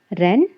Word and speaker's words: wren: Wren, a small brown bird. Wren means. Here W is silent children.